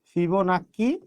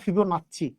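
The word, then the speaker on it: Fibonacci: ফিবোনাক্কি অথবা ফিবোনাচ্চি, দুটাই উচ্চারণ হয়, ফিবোনাচ্চি বা ফিবোনাক্কি।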